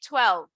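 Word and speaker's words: twelve: You don't have to pronounce that last E. You can just say 12.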